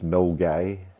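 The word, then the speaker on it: Milngavie: in Glasgow it's an area of Glasgow called mil guy but it's sped like that on the screen there Mill and gav but it's pronounced mil guy oh okay okay just uh you know that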